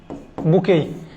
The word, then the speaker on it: bouquet: Flower, A carrying a বুকে, বিও কিউ, বুকেই, এর উচ্চারণ এই শেষে কিন্তু টি এর উচ্চারণ হবে না।